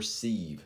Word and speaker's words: sieve: i almost called this lesson the prime number sieve c what's a sieve um it's a way to filter things out and it's spelled like this it's s-i-e-v-e a c filters